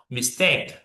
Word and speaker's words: mistake: But to be honest, you need to stress in the second syllable. Hotel, hotel, or mistake, mistake.